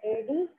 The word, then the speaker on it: adjective: Well, you write A-D-J-E-C-T-I-V-E-S, adjective. It's not like adjective. D is not silent here.